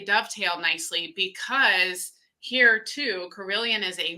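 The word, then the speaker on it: Carilion: you want good care, but you guys have Carillion. I'm not trying to steal your thunder. Did I pronounce it right?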